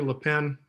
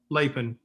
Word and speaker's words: Lapin: Connie, is it Connie LePen? Am I pronouncing that? Connie Lapin. Lapin, my bad.